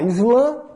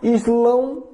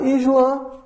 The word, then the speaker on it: Islã: de Alá Deus tá eu posso falar Islã isl is tá islam se fala mais em Portugal no português de Portugal tá islam é mais uma pronúncia árabe tá Islã no português tá agora geralmente e a